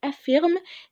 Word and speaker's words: affirment: Certains affirment, نلاحظ هنا ان ال او ان تي في كلمه افيرم ال او ان تي هنا لا تنطق. ليه؟ عشان اي او ان تي في اخر فيرب لا تنطق. افيرم قاعده افيرم ال او ان تي لا تنطق. ليه؟ عشان ده هي في فيرب. افيرم qu'il faut aménager la